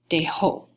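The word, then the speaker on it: dejó: the past tense then I'm gonna put that accent on the O and it's going to be dae-ho okay that would be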